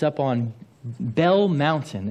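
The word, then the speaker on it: Belle: It's up on Bell Mountain. It's spelt B-E-L-L-E. It's actually a French word, Bell.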